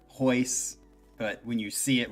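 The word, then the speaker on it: Royce: My name is like, and you don't pronunciate the R, so it's Hoyler, Hoyce, but when you see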